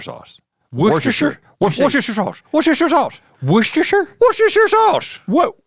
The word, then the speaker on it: Worcestershire: of the bit Yeah but it's Worcestershire I just say Worcestershire sauce Worcestershire sauce Worcestershire Worcestershire sauce